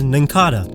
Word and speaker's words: Nincada: I know it's based on a cicada, but every official pronunciation is Nincada.